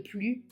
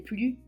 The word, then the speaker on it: plus: Paul est le plus agréable. 4è, c'est le plus âgé. Même chose, est un adjectif qui commence par une voyelle a. Donc le S va se prononcer Z. C'est le plus âgé.